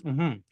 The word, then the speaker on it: mmhmm: in your browser you'll be taken to a place called mm it's pronounce as mhm and this is what